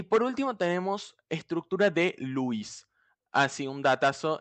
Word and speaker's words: Lewis: Y por último tenemos estructura de Lewis. Así, un datazo. Esta E y esta W no se pronuncian EU, se pronuncian U. Es como literalmente Luis, pero en inglés. Es Lewis, con acento en la U.